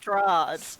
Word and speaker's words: Strahd: pronounced Strahd.